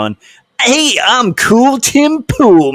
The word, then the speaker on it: Pool: hey um cool Tim pool my name rhymes with cool all right dude okay